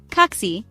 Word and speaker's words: kaksi: Almost always the first syllable of the word is stressed. That's it. No complicated rules or exceptions to remember. For example, kaksi, 2, and kirjasto, library, are both stressed on the first syllable.